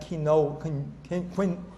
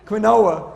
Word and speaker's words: quinoa: camus amarant quinoa and you said it right that quinoa quinoa okay the best sources of